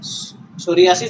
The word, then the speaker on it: psoriasis: तो यहाँ पे क्या, साइकोलॉजी में भी पी साइलेंट है, सोरियासिस में भी पी साइलेंट है और साइकेट्री में भी पी साइलेंट है।